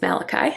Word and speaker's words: Malachi: of people are like how do you say that it's malachi i just think that's